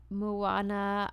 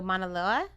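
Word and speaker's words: Mānoa: go out for a solo hike in the Moana alua I I'm sure I totally said that wrong how do you say that I don't know where you're looking oh monoa yeah the monoa Valley Park so he took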